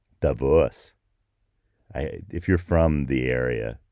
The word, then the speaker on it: Davos: See, notice how I almost said Davos. That's how we say it in English, but that's not how you say it in Switzerland. That's not. It's something like Davos.